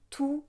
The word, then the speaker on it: tous: Et ici, on ne va pas prononcer le S de tous. On va dire tous mes amis.